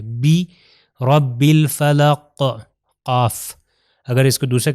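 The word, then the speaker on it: بِرَبِّ الْفَلَقِ: اگر ہم کہوں بے رب الفلق تو یہ اردو والا تلفظ ہو جائے گا. عربی میں ہم نے کیا کہا، کسرہ یعنی زیر کا تلفظ ای ہے، بی رب الفلق قاف.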